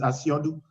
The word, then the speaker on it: Asiodu: they call him here but the real pronunciation is asiodu chief asean took me